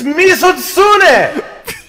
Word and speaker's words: Mizutsune: But it's not a tut sound! You just made a tut sound! It's Mizutsune!